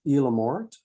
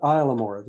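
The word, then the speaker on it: Isle aux Morts: we're going to visit elamor or i'm saying that wrong they call it islamor is the way newfoundlanders pronounce it and it's just uh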